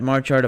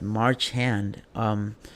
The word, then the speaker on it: Marchand: We had Brad Marchard, a Florida Panther. Sorry if I mispronounced it, but Marchand.